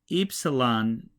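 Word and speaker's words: ύψιλον: The capital looks like a capital Y, and the lowercase looks like a lowercase u, and it's pronounced just like eta with a long E.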